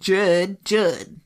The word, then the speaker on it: Judd: Finally, Judge stated that he had I keep calling him Judge. Finally, Judge. Finally, Judd stated, Judd. Finally, Judd. Say it like that.